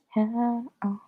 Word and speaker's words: Hanna Alkaf: Hanna Alkaf.